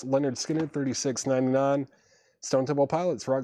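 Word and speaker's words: Lynyrd Skynyrd: Moon Fever 36.99 on Tom Petty Leonard Skard Pronounced Leonard Skinner $36.99 Stone Temple Pilots for Rocktober exclusive sky blue vinyl $39.99 is at Sacred Mushroom for sale.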